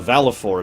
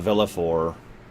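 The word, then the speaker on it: Valefor: Also, Valifor is apparently how you're supposed to pronounce that. Not Valifor, not Velafor.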